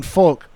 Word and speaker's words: folk: No, you do not pronounce the L in folk.